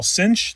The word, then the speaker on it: sinh: This part here I'm going to call cinch. That's what I learned in school. Tell me below if you pronounce it differently around the world.